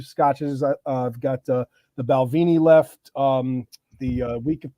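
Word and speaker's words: Balvenie: a lot more about the balvini not balvening yeah I gotta I gotta pronounce it correctly I got a Brooklyn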